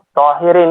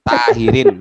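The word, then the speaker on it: طاهرين: Tohirin ini saya. Ya. Sampean bukan tohirin, tahirin sampean. Baca tarkik sampean bukan tohir tapi tahirin. Ini baca tafkhim to.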